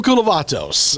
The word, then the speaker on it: Koulovatos: Jim Koulovatos will be with us.